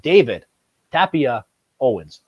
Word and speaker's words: Tapia-Owens: All the way from Spain out here, we have David Tapia-Owens. I pronounced that right, correct?